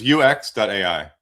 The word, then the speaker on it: UEX.ai: It's UX.ai, and that's Sorry.